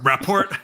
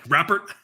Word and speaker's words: rapport: establish how do you how do you say that word rapport rapport rapper rapport that's right establish rapport who's rapper